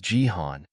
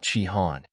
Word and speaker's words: Jihan: chihan Jihan corrected him saying he was Jihan not chihan Baron laughed mocking Jihan